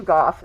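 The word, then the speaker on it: Gough: Goff said H. And that is spelled G O U G H.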